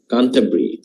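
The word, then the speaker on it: Canterbury: ভি হচ্ছে দেখেছিযদি যদি হচ্ছে কোন শহরের নামের সাথে থাকে তাহলে উচ্চারণ হচ্ছে কন্টা হয় উচ্চারণ এমনিতে উচ্চারণটা বেরি কিন্তু প্লেসের নামের সাথে যদি বি ইউ আর ওয়াই থাকে সেটার উচ্চারণটা হয়ে যায় ব্রি কান্টাব্রি টম একটা শব্দ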